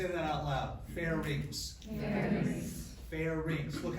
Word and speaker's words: pharynx: needs of parents everybody say that out loud fair reaps bell rings look how it's spelled something right here fairies everybody see that okay nothing screams out I didn't pay attention in school like calling it fairness with you taught fair neck so you're telling